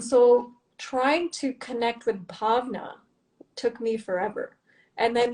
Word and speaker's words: Bhavna: And when I actually heard how it's supposed to sound, bhavna, very soft, I figured, because also the other thing was a lot of people couldn't pronounce my name right. And that was my biggest pet peeve. I was being called Bhavna. I was being called Barna.